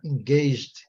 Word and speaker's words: engaged: James e Louise are engaged. Engaged. Aqui é o G com som de gato e o segundo G com som de digi, né?